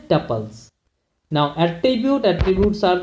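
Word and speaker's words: tuples: अब देखिए यहाँ पे दिया भी हुआ है, usually pronounced to rim with कपल्स, जैसे कपल्स पढ़ते हैं वैसे इसको हम पढ़ते हैं टपल्स।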